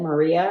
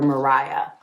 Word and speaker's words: Maria: just looked at that, I would have said Maria. I hope I didn't say Maria in this book, but the way that it was broken up at the beginning definitely was pronunciation for Mariah.